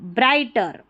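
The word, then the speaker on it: brighter: एंड BRI, ब्राई, ठीक है, और GH साइलेंट है, TER, टर, ब्राइटर।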